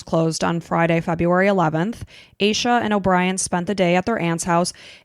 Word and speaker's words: Asha: It's as ha is how it's spelled, but it's Asa.